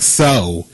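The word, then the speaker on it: Tso: It's like So. General So. Shao. I ain't never met him a day in my life. The T is silent.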